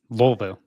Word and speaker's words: Louisville: equip Expo and uh Louisville Louisville Lou yeah Taxi Driver taught us you have to say it like it's uh you have marbles in your mouth wolv that's right weville um but that was